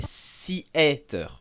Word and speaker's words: Seaiter: Donc vous devez savoir un petit truc, le début de mon pseudo, les deux lettres se prononcent comme en anglais et le reste en français. C'est pas Seater, c'est pas Siaté, c'est pas Seater, non, c'est Seater.